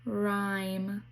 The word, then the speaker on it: rhyme: or r rh the h is silent so it says r like in rhyme.